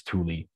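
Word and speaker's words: Tule: move to the area the poem is called Tuli fog is in t l e um you might pronounce it CH when you read it but apparently it's Tuli and what it is is this gigantic cloud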